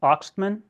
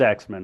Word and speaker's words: Axtmann: And your last name is pronounced Axtmann? No, Axtmann. It is Axman. Okay. In German, it would be Axtmann, Okay. and that's Okay. what it is, the Axeman.